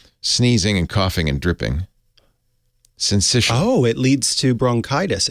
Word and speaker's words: syncytial: Well, I don't know how do you pronounce that, The Dr. CDC Mom? says syncytial. Syncytial, okay.